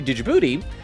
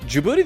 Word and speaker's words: Djibouti: stuff about the country dujibouti uh wait is that how you pronounce it Djibouti the D is silent when I was in high